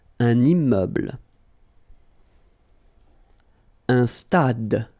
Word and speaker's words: stade: Un stade. Same thing here. Final is not pronounced.